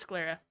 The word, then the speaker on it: sclera: How do you pronounce this fucking word? Hold on. Sclera. Sclera. Okay, it is Sclera.